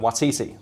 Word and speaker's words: Waititi: fact like me largely attributed to one tiger watiti the director did you pronounce that correctly you did yeah thank you